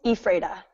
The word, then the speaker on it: Ephrata: So why don't you pronounce it for David and me? It's Ephrata.